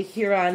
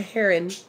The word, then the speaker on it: Huron: Haran and whatever okay maybe I've been pronouncing it wrong all the way yes look at a mall Satan heron and you know what's funny is if you look it up on YouTube announced for a pronunciation of Huron you will get a Heron Heron heron and that's exactly how they say it heron and so apparently I've been saying it all wrong all along okay whatever but as